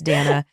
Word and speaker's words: Dayna: That's Dana. Everyone, my name is spelled D A Y N A. But love you, Katie. Like day.